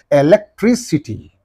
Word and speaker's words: electricity: And what should be the syllable preceding the suffix means? Only this one. Electricity. Electricity. Electricity. Electricity, right.